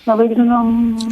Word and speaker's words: molybdenum: Molybdenum?